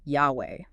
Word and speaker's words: Yahweh: YHWH, often pronounced Yahweh.